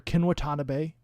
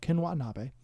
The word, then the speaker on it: Ken Watanabe: needs to know them they are kinwatanabe watanabe sorry i pronounced his name wrong ken watanabe 11 from from stranger